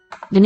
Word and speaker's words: dny: Okay, look at what happens to the word for the day. It Dny. loses that vowel in the first syllable. The days are short. It syncopates out that vowel.